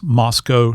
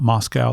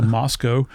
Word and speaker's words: Moscow: you have to pronounce Moscow, not Moscow. They take exception of that. So, you have to think Costco. So, Moscow.